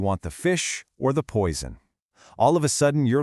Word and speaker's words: poison: Notice that little buzzing Z sound? Poison.